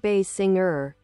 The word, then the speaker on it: Basinger: Kim Bay Singer biography. Kim Bay Singer, pronounced Bay Singer is an American actress